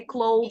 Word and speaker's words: clothes: great I didn't notice anything wrong just the pronunciation of the word clothes we don't say yes this we say clothes yes clothes or if you can't say it like this say it close like this but don't say close this we